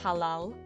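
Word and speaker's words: halál: to DD in Hungarian is a Halal is how you say death in Hungarian um covered in glitter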